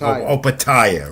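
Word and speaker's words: Opetaia: Opataya, right? Opataya, yeah, he's and in my notes here, I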